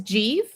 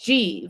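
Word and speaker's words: Giev: Uh but I think the consistent answer is Jeie. Uh who in the pronunciation guide, he is one of the reasons I have a pronunciation guide. His name is spelled G I E V, but it's pronounced Jeie, like the city of Keev, you know, like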